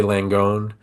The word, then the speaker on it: Langone: go to NYU and I don't know how to pronounce it l n g o n e it's I'm going to say langone um in Manhattan it